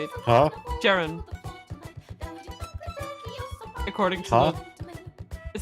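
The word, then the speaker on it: Ceren: e n I said Jared Jeremy Jaron okay that's how you say it huh gerund accordingly it says Jared spelled spelled c e r e n that's Jan like Jester and ran like Ransom shut your mouth for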